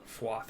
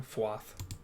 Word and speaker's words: Fuath: Fuath. Okay, I've been pronouncing it wrong. I've been putting the A before the U for some reason. Fuath.